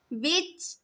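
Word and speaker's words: watch: हमारे पास साइलेंट है वाच वाच के अंदर टी आ गया साइलेंट विच टी मैच टी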